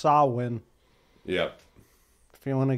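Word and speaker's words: Samhain: is it the concept that on Halloween or Sam Hayne or I think they call it it's actually pronounced sawwin yeah if you want to get very nerdy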